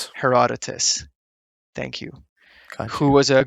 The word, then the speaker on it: Herodotus: So the legend of Cyrus we mostly refer to her I don't know how to pronounce his name. Herodotus. Herodotus thank you.